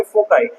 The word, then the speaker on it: foci: तो आप क्या बोलोगे, फोकाई। लेकिन कभी कभी बहुत सारे लोग प्रोनाउंसिएशन सबका अलग अलग होता है। कोई भी फोकाई बोलता है, कोई भी फोसाई बोलता है।